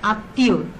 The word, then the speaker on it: আত্মীয়: তাহলে আত্মীয় বানানে তর সাথে মফলা যুক্ত আছিল শব্দের মাঝখানে, এই জন্যে আত্মীয় তর দীপ্ত উচ্চারণ হয়েছে, অর্থাৎ তটা দুইবার উচ্চারিত হয়েছে।